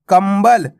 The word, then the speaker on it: कंबल: कम ब ल कंबल अब देखो क के ऊपर अनुस्वार की मात्रा है उसके बाद क्या है बा अगर ब आएगा तो क्या पढ़ेंगे इसको मा का उच्चारण होएगा तो कंबल कंबल नहीं पढ़ा अपन ने कंबल ज म अनुस्वार की